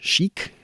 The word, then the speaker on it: chic: Chic. I say chic. I don't know how other people would say it. Shik. But chic sounds pretty good.